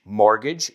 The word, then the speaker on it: mortgage: Mortgage, hipoteca. Que gracia que empieza con la palabra mort, como muerte, pero se pronuncia mortgage.